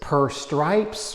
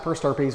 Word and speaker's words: per stirpes: Is it per Stripes or per Stirpes? So it's pronounced per Stirpes.